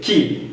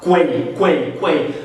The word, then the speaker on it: quay: a escrita e ver que ceiling se escreve sailing. Mesma coisa com a palavra cais. Se você vê a palavra cais em inglês escrita, você vai falar quay, quando na verdade é que.